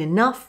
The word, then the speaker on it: enough: For uff in enough, rough and tough, enough, rough and tough, cuff.